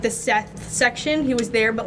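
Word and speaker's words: Szeth: was at a birthday dinner and I went Seth with a z Seth with a z made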